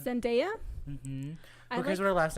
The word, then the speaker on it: Zendaya: say her name now I used to call her Sundaya but it's India zendaya mm-hmm her last name